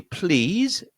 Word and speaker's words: please: And notice that this word please, which is a very polite word, has a z sound at the end. That se sounds like a z.